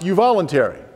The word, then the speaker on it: euvoluntary: So I took the Latin root voluntaris and added a Greek prefix, eu, meaning well or truly. And it's pronounced euvoluntary. Now, a euvoluntary exchange is one that's truly voluntary.